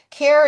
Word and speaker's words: Caire: So, care is not spelled c a e or c l a i. It's spelled c a i e which is care with an i in the middle.